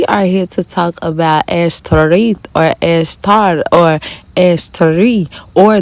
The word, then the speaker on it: Ashtoreth: Okay, so with that being said, a lot of people don't know about Ashtoreth because that's really how you pronounce it. It's pronounced Ashtoreth.